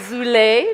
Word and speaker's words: Zulay: We have Zulay, like souffle. She had to remind me how to pronounce her name.